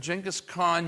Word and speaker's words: Genghis Khan: Really should be pronounced Genghis Khan. A lot of people say Genghis, but he conquers.